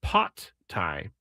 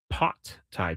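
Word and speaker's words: Pad Thai: Oh, I got a uh the real pronunciation, the Thai pronunciation is pot Thai. Pot Thai.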